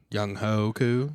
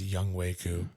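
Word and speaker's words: Younghoe Koo: Young Ho Koo. It's pronounced Young Wei Koo. Sure. Don't ask me how H-O-E. H-O-E is Ho. Young Ho Koo. It's Wei.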